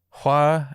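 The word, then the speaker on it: 화: the top one is fire which is pronounced hua and then the bottom one is flower also pronounced hua okay yeah so yeah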